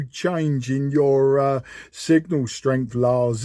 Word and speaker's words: Lars: But anyway, the name here, the handle here is Lars, like Lima Alpha Radio Sierra.